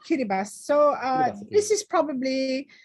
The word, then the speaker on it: Kiribati: with me on this yeah kiribati it's pronounced kiribati so uh this is